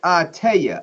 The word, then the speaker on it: Artea: My name is pronounced Artea. All right, Artea.